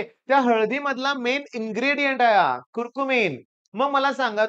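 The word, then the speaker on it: curcumin: हळदी मधला मेन इ्रेडियंट कुरकुमन मग मला सांगा तो कुरकुमिन आहे माझं प्रोनन्सशन समजून घ्या कुरकुमन म्हणतोय बर का मी ऑसली अँटीसेप्टिक आहे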